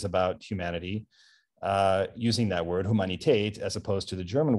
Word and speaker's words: Humanität: Now you're going to inform some of these people by talking about humanität. How do you pronounce that word? How is it pronounced? You say in German, you say Humanität. Humanität. Yes.